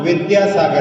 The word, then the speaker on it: विद्यासागर: जैसे आचार्य जी का नाम विद्यासागर है, कई बार बड़े बड़े विद्वान भी जो है विद्यासागर विद्यासागर बोलते रहते हैं, सही नाम उच्चारण नहीं करते, दा और या मिलकर के द्या बनता है।